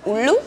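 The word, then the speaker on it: ഉള്ളൊഴുക്ക്: film in Malayalam please super super easy it's ulu uu U so the the the thing goes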